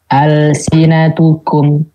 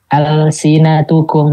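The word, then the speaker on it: ألسنتكم: Hukumnya dibacanya izhar. Contoh, al-sinatukum. Nah ini lamnya asli nih dia nih. Al-sinatukum, bukan alif lam ini ya, tapi emang benar-benar kata dasarnya ini.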